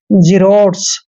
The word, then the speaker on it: xerotes: देखिए एक्स के बाद जब भी ई आता है, ए आता है या वाई आता है, तो एक्स का उच्चारण हमने जय करना है। एक्स का उच्चारण जय करेंगे और ई को ई की मात्रा पढ़ते हैं और आर का उच्चारण हमने रह करना है। ओ को ओ की मात्रा पढ़ते हैं और टी ई का उच्चारण ट करेंगे और एस को स पढ़ना है।